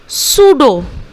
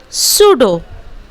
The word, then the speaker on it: pseudo: Here also we डू not pronunciate P psychiatrist, no never, we will pronunciate psychiatrist. और उसी तरह सूडो, उसी तरह सूडो। Okay, so let's pronunciate these words once again. Psychology, psychiatrist, pseudo.